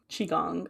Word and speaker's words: Qigong: It's chi chi. That's how you would pronounce it. Chi. Yes, I think Catalina will be screaming from the rooftops so that pronunciation. It is pronounced chi. Qigong.